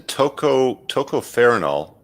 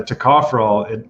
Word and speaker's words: tocopherol: Tocopherol, I think it's pronounced.